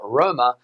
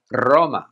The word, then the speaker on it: Roma: For example, the city of Rome in Spanish is not Roma, but Roma.